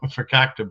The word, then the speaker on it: fakakta: Is it fakakika bread? I don't know. Fakakta bread. That's how us Jews say it. We call it fakakta bread.